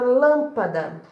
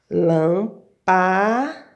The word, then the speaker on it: lâmpada: A sílaba que eu pronuncio com mais força, que eu intensifico mais, é o lã. Então, essa é a minha sílaba tônica.